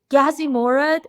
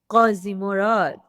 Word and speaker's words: Ghazimorad: And you just did a great job on that because normally I get this Ghazimorad. Is it Ghazimorad? But you said it perfectly. Ghazimorad.